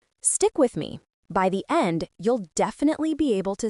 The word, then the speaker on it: 一: They are pronounced E R sun.